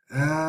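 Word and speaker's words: آلآن: Al-Ana. This is Hamza, Lam, and then Hamza with the diminutive alif, and then the Nun with the Fatha. Al-Ana. This is how you pronounce this one.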